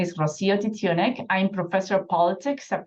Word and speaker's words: Rocío Titiunik: listener second time caller so uh uh Dr roio toonic I didn't say that name right though I